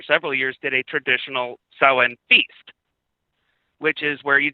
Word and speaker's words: Samhain: But it's pronounced Samhain. Sorry, I'm doing a Christmas show and I juxtapose my holidays in my skull, but you're absolutely right. We're talking about Samhain.